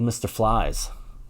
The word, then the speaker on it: Mr. Phylzzz: it's a band called Mr flies that's how you pronounce it even though it's spelled p h y lzz whenever I heard the